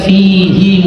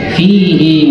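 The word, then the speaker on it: فيه: ya fihi ya itu kita bacanya bukan fihi Muh bukan pendek tapi panjang fihi Muh coba kita baca bareng-bareng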